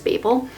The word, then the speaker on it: Babel: lot of research on like Babel versus Babel and even though the word Babble is usually spelled with two B's that is how this is supposed to be pronounced that is how the author pronounces it and Babel the tower was actually I was kind of like where Babylon came from and you don't call it babelon so I will forever stick with Babel if people pronounce it